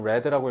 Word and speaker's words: read: 자, 요거는 read라고 읽어야죠. 읽었었다.